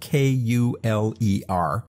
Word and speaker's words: Kuler: That's spelled K-U-L-E-R, but it is pronounced like me. I'm cool, so we're talking about Kuler color.